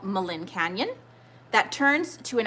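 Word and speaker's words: Maligne: So what national park is Malin Canyon found in? And Malin Canyon is spelled M-A-L-I-G-N-E. So Malin Canyon.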